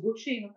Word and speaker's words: Butino: É Butino mesmo? Isso, Butino, tá certo.